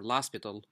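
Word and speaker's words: L'Hôpital: So here we're going to look at another use of derivatives, and that is Lopital or Lopital rule. Okay, both pronunciations are okay.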